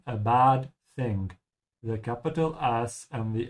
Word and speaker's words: Sand: Weil da der Sand ist, der Sand, just like in English sand, just make sure to pronounce it correctly, and with an open A.